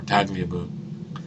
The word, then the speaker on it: Tagliabue: The only reason I know that's how it's pronounced is because I've heard the name before, Tagliabue.